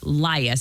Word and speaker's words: Lias: Lias. Is it Lias on the first syllable?